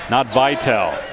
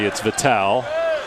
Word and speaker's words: Vital: Too strong on the 3 and rebounded by Christian Vital. Not Vital, your buddy. It's Vital.